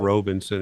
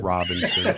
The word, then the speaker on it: Robinson: Oh my Ed God, Robinson, not Robinson. It's R-O. It's just Robinson.